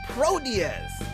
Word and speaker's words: Proteus: Twitter page of probe's damn with their game Proteus and that's how you say it because I